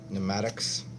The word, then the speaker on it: pneumatic: about a seals around pneumatics weird how that P is silent pneumatic some talk about Maddux